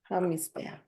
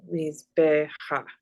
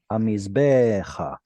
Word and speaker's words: hamizbecha: Hamizbeach. Hamizbeach. Oh, Mm-mm. Mizbecha. Very good. So with that unaccented kamatz hey at the end, it means towards movement. Hamizbecha.